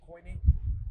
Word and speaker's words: koine: Is that koine? Yeah, we pronounce it kine, but yeah, koine, Greek.